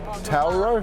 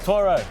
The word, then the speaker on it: Toro: I think a lot First of all, how do I pronounce it? Tauro? Toro. Toro, okay. It's a Toro, 100% it's a Toro.